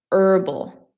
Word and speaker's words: herbal: Um, you could also say earthy is kind of like it has it's herbal. So in English we don't pronounce the h sound. It's just herbal.